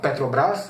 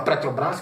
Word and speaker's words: Petrobras: eu acho feio isso, Um cara que não consegue falar Petrobras, ele fala Petrobras, Petrobras, Petrobras, então não era um erro pontual, Eu acho que ele fala daquele jeito mesmo.